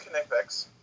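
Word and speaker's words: Knipex: But the tool I use now is called Connectex. It is pronounced Connectex because it is a German company, so the K is not silent.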